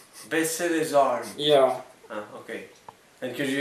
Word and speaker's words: Baisser les armes: Yeah, you have to pronounce it. Baisser les armes. Baisser les armes.